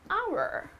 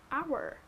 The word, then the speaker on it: hour: back in an hour hour okay and as again your article indefinite article here though you would say that's not a wobble however it is pronounced as our right the H is silent here so that becomes your